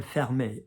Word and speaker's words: fermé: So enough people have done enough school French, particularly in the UK, to know fermer, la fenêtre, like close the window, but faire, like it's not fair, fermer, all right?